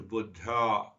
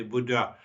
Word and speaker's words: Buddha: a women who approach Buddha you know in US it say Buddha Buddha you know in Sanskrit means old so actual pronunciation is Buddha so I will continue